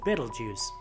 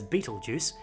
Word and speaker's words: Betelgeuse: I mentioned just then that star is called Betelgeuse often mispronounced as Betelgeuse and that name loosely translates from Arabic as